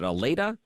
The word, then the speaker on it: Allata: WD and I want to make sure I'm pronouncing that right is it ala you got it right Ryan thanks for having